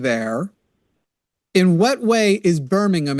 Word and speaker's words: Birmingham: In what way is Birmingham, it's pronounced, by the way, it's not Alabama.